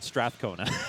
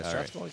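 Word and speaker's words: Strathcona: how pronounced straa cona stona County I've been mispronouncing I've been I've just been saying Strath cona okay so it's Strath aona okay yeah stona County and um you know in in in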